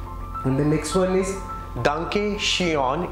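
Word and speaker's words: danke schön: the next one is Duncan Cheon it's not Sean it's Duncan sure thank you the last one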